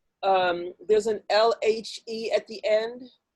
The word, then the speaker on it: lhe: So the word conhecer, at its there's an LHE at the end. Is that pronounced lu? No. Conhecer-lhe, lhe. Yeah.